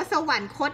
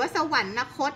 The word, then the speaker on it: สวรรคต: เหมือน กัน สวรรค์ โค้ช เรา อ่าน ว่า สวรรคต ณ ไม่ อ่าน ว่า สวรรนคต นะ คะ สวรรคต เห็น มั้ย ไม่